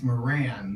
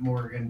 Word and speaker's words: Moran: Morgan please have a seat he gestured to a chair in front of his desk it's Moran not Morgan but I'm guessing you knew